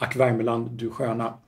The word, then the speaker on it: Ack Värmeland, du sköna: And in Swedish, it's Ack Värmeland, du sköna.